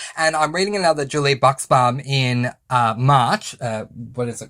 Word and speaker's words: Buxbaum: I had been calling her Bobaum for a while and then found out I was saying it wrong. The X is not silent. So it's Julie Buxbaum.